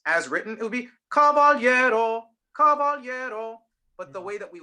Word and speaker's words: caballero: that we would speak it is caballero caballero so the rhythm is not exactly as written right and so what you'll notice is those last two notes are not even eighth notes the stress syllable is a little longer and so basically the formula that she came up with instead of two eighth notes think of it as three triplets but the stressed syllable which is the second to last syllable gets the first two